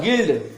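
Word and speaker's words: guild: इसको समझ गए तो जब भी यू के बाद कोई वॉवेल लेटर हो तो यू क्या होता है साइलेंट होता है समझ गए तो यह देखो हम क्या ये गिल्ट लिखा हुआ है गिल्ड क्या लिखा हुआ है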